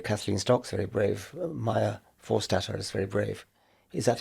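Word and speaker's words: Forstater: Maya Forstat is very brave. Is that how you pronounce it?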